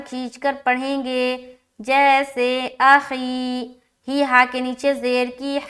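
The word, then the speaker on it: أخيه: تو ہجے کرتے ہیں، حمزہ زبر ا، خایا زیر خی، ہا زیر ہی، اخیہ اخیہ، ٹھیک ہے، سمجھ آ رہی؟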